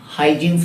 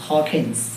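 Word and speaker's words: Huygens: हकस Dutch scientist ठीक आप उसको आप ऐसे प्रोनाउंस करते हो ना हाइजन प्रिंसिपल या हाइनस प्रिंसिपल असल में उसका प्रोनंसिएशन जो है ना बहुत अजब अजब तरीका क्योंकि वो डच नेम है हकस प्रिंसिपल इट्स हकस ठीक है तो बच्चों हाइजीन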